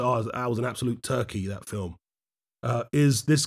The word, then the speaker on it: Turchi: body shot well actually they pronounce his name turkey rather than turchi but i don't want